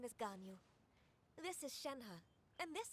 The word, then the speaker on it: Ganyu: Walaupun sebenarnya Ganyu dibacanya. Gan spasi Yu, Ganyu.